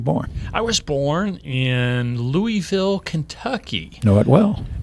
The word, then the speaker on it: Louisville: louisville i do know the proper way to pronounce this city louisville louisville that's right if you live there you say